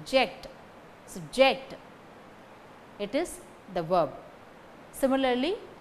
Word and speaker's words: subject: When the stress falls on the first syllable, sub, it is the noun, subject. When the stress falls on the second syllable, ject, subject, it is the verb.